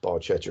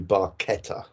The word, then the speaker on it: barchetta: Italian Friend of Getty Lee said it's not pronounced by cheddar it should be barchetta um uh but yeah people do get very